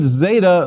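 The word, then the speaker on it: ζῆτα: equivalent to z but zeta buzzes more in greek because we should insert a d sound as well tactically z d as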